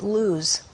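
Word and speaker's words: Lawz: Laws, they actually pronounce it luz. And it's also pronounced luz in Hebrew, and it means the nut tree, or specifically the almond.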